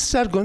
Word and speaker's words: Sargon: Because when the K is between two vowels, K as a consonant, falls between two vowels, it will be pronounced as G, Ge, as Ge in Aramaic. That's why Sharrukinu became Sargon.